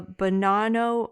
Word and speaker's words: Bonanno: It sounds like Bonanno. I'm saying banana really poshly.